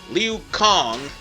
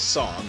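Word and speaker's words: Liu Cong: way from jing since liu kong which is his name's official pronunciation i thought it was song my bad went there and gave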